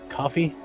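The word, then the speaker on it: Ko-fi: Uh coffee. Coffee. It's coffee. It's pronounced coffee.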